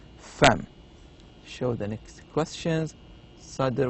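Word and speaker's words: فم: It says no, it's not eyebrow, it is mouth, and the pronunciation is fem.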